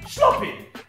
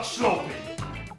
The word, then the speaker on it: sloppy: get some sleep also the double puff makes the o before it sound like oh rather than oh a short o rather than a long o hence sloppy not sloping kind of like puppy and not poopy you don't want to